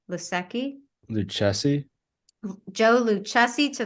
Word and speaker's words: Lucchesi: and Joe lucette how do you say that lusaki lusaki the Chessie Joe Lucchesi to the Mets um